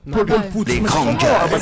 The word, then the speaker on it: Paul Put: Paul Put. C'est écrit pute en français. Ok. Prononce Paul Put.